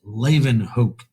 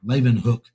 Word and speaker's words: Leeuwenhoek: The next guy we want to talk about is named Anton von, and it's pronounced Leeuwenhoek. All right, Leeuwenhoek.